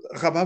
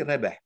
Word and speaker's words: Rabah: Et si on le prononce en arabe, on dit rebeh. Rebeh, ça mm, veut dire gagnant.